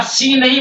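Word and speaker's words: scene: रहेगा सी नहीं बोलेंगे और सीन है सीन एस सी ई एन ई सी नहीं बोलेंगे और फेसिनेशन आकर्षण फेसिनेशन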